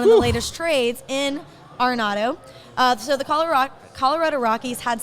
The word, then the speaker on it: Arenado: the next hot topic, and that is Nolan Arenado. So many reports are saying that Arenado. Yeah. Only reason I know how to pronounce it is I'm a huge Rockies fan.